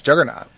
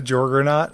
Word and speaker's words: Juggernaut: Because I think it's Juggernaut. So it just goes right into fucking Juggernaut. Jesus. I knew he was on accent. I think you just pronounced him as the Jorgernaut.